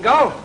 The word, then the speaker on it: golf: Oh, you mean golf? Well, it's pronounced golf. You leave the L out.